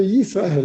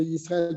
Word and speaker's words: ישראל: צריך להדגיש י' של שמע ישראל, שלא תבלע ולא תראה א', donc il faut bien prononcer le yud de Israël pour pas qu'il devienne aleph, ou qu'il omer Israël,